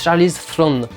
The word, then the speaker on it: Charlize Theron: Tully, film de Jason Reitman avec Charlize Theron, qui se prononce d'ailleurs, ça se prononce Charlize Theron, parce que elle est sud-africaine en fait, et c'est un nom de famille sud-africain, et donc en Sud-Afrique on l'appelle Charlize Theron, et pas Theron.